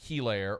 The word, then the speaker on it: Helaire: It's like Eclair, but just take out the cuh. It's Helaire.